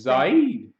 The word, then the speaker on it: Zahid: I saw Zahid from Pakistan. Zaid. Is that how you say it? Yeah.